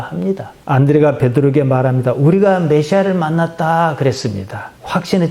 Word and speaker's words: 메시아: 우리가 메시아를 만났다 그랬습니다. 확신의 참 어둡니다. 메시아 영어식 발음입니다. 원래는 히브리 말이에요.